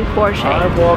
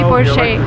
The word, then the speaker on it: Porsche: the car s sit because it's a German name the stress goes to the first part of the world and we say Porsche remember never say Porsche never never and don't